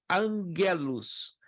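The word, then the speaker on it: ἄγγελος: à frente as consoantes a letra g seguida de outro g ou k x i c possuem um som nasal como se fosse a letra N como por exemplo a palavra anjo no grego se escreve com nossa nosso alfabeto né angelos mas se escreve angelon tá quer dizer mensageiro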